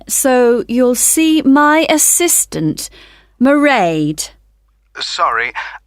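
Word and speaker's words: Mairead: you'll see my assistant merade sorry how do you spell that it's m a i r e a d marade okay got that it's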